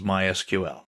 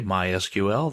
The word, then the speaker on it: MySQL: so what is MySQL well it's a version of SQL we'll talk about that in a minute people in the know don't say MySQL they say my SQL that's generally how it's